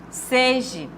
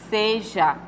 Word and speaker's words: seja: Zinho aqui tá e foi existe uma vogal seje seje do verbo imperativo não não existe verbos seja não existe tá errado tá então a única que está correta é a letra de bandeja e seja Aí sim está correto Tá certo então a